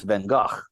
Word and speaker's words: Van Gogh: painter with one ear is he Van Gogh or Van Gogh right uh if you're if you're speaking Dutch uh it's Van Gogh right uh but you